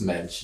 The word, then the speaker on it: Moench: pronounce it it's just mench it's without the O and I think in